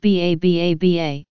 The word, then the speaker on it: 333: in 2010 Saigon beer 333 pronounced ba ba-ba Vietnam brewery Limited a